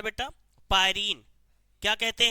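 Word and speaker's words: pyrene: नहीं लाल carbon टेट्राक्लाइड carbon tetra chloride इसी carbon टेट्राइड को क्या बोला जाता है बेटा पायरीन क्या कहते हैं पायरीन जब बिजली से कहीं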